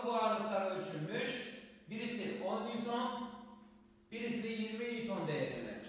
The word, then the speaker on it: Newton: Okunuşu da Newton'dur arkadaşlar. Birimiyle ifade edilir. Newton kısaca N harfiyle gösterilir.